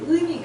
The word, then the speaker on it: 의미: 이렇게 의미가 있어요, 의미. 그죠? 의미. 여러분들 어떻게 들으셨어요? 의미. 네. 경상도는 의미라고 있어요. 제가 한번 읽어보실래요? 목소리 좋아요. 의미예요, 의자는 어미가 아니라 어미가 아니라 플러스 이예요. 그래서 의면은 돼요.